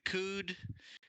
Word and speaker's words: coup: this is okay so that's coop is pronounced ku yeah it is i got it the p does not exist there is no p i don't expect you